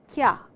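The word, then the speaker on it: きゃ: this is a small ya and it is on the line, and then only it becomes kya.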